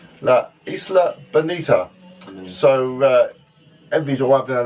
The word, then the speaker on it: La Isla Bonita: Madonna one, the Isa Bonita. La la la. No, we're actually no, you're completely wrong there. No. The Isa, no, La Isla Bonita.